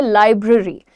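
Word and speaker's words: library: आपके सामने ज्यादातर लोग ए पे बहुत जोर डालते हैं ए पर जोर नहीं डालना है आपको कहना है लाइब्रेरी ब्र री सो यहां पर जब मैंने लिखा है आपके सामने तो यह जो ई का साउंड है यह ए नहीं है this is suppose to बी अ अ का साउंड होता है वो यू से लाइब्रेरी लाइब्रेरी सो दैट्ची से इट क्विकली तो वो क्या बन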